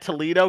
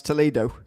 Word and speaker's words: Toledo: So that was nice, and I'm hoping to carry that momentum with a really good run at Toledo, keep the car clean, just not do anything